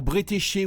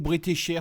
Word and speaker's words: Bretécher: on va parler de claire bretécher ou brétécher suivant les prononciations alors c'est une dessinatrice